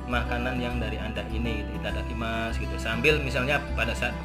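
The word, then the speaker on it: いただきます: Kemudian di sini ada itadakimasu ya. Ada itadakimasu. Tulisannya tetap su ya. Di sini ada masu ya, sunya seakan-akan u ini hilang.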